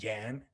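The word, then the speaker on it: 言: And in this case, it's a word pronounced yan, which means word.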